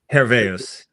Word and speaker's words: Herveus: on, I don't know if I'm going to pronounce it right, Herveus, or is it Herveus? Herveus.